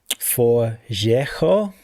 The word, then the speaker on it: Forgejo: about things like um for JO I'm going to pronounce it apparently Espiranto.